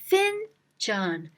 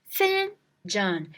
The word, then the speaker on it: fincan: Find John. Find John. You finally found him with your cup. So find John. Fincan. Fincan.